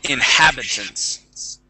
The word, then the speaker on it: inhabitants: Let's go to the word inhabitants. Inhabitants. Inhabitants. Yep. That's it. Yep, with the stress right there on that A, inhabitants.